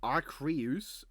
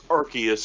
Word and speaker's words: Arceus: We have Arceus versus Filemon from Persona. Who? Arceus, man. Jeez. No, I know who Arceus is. It's Arceus as well, not Arceus.